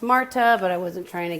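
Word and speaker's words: Märtha: But it's called Atlantic Crossing, and it's about a World War II relationship with FDR and Norwegian Crown Princess Martha, which he said is pronounced Marta, but I wasn't trying to get into accents.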